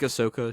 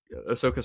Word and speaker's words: Ahsoka: it's a hot take or not I think Ahsoka should be an A2 okay um I I